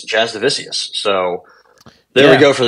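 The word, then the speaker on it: Jasudavicius: wrong this entire time I've been saying just Do The Vicious it's Jazz divisius so there we go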